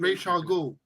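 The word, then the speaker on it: Ra's al Ghul: Clint says, "Thank you, Dev, for pronouncing Ra Al Ghul properly." So there we go. How is it? Raish Al Ghul.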